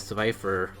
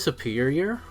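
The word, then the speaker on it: Serperior: Or, I think it's actually Superior. Is a pronunciation of the Pokemon? I know the Pokemon's name, but for some reason when I try to pronounce it, it just comes out as Survivor.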